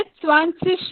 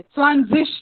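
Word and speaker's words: zwanzig: हम लोग Z का प्रोनाउंसिएशन करते वक्त ही सेन, ओके उसमें से थोड़ा सा TSSS वाला जो प्रोनाउंसिएशन है वो आता है सेन। तो इसलिए यहाँ पे स्वानसिश भी अलग हो जाता है, स्वानजिश नहीं हो जाता।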